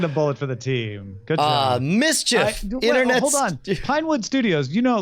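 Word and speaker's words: MSCHF: something to pronounce yeah mischief that's M s CH F internet studios has published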